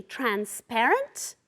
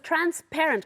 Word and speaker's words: transparent: yeah not only that the gummies are usually transparent okay be careful with the pronunciation the trap orente okay it's trans parent como si fuera Padres with transparent come see for the cool night air element